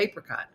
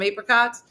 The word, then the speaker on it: apricot: You probably didn't notice it right away, but when I said apricot, I was like, you guys want some apricots? But those of you that like, do you want an apricot? Like that.